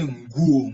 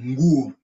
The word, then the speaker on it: nguo: Don't pronounce, don't stress on the letter N. Just say nguo, nguo. Nguo.